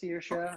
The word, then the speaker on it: Saoirse: I was just like really taken aback, and then I was like, after she's like, it's Saoirse, and I was like, okay, I'm sorry for making it a big thing, but I'd never seen a name like that before.